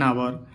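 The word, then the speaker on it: hour: कह रहा है कि जिन शब्दों में एच साइलेंट रहता है उनके पहले भी ए का प्रयोग करते हैं। मतलब एच तो होता है लेकिन ए साइलेंट होता है, इसको नहीं बोलते। एन आवर, an honest man, N honourable man, एन एयर, यानी सब में क्या है प्यारे बच्चों? एच साइलेंट है, इसलिए हम क्या करेंगे?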